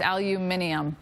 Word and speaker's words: aluminium: like Al no but that's the British way I think to say it it's aluminium um anyhow yes aluminium is how they say it yeah uh okay snow